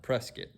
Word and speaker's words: Prescott: up in south arkansas in a place called prescott prescott spelled just like prescott arizona but it's pronounced prescott and if you say it wrong we know